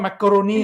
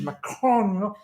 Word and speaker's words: Macron: You don't call me, I don't know, there's so many, like Emmanuel Macron, it's not macaroni, it's Macron, must pronounce it in a certain way.